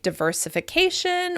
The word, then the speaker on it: diversification: ends in shun, like diversification or commodification. In this case, we're stressing the second to last syllable of shun words.